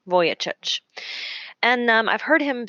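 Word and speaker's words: Vujicic: is Nick SEC uh last name is spelled kind of differently so I'll spell it for you it's v u j i c i c voyageur and um I've heard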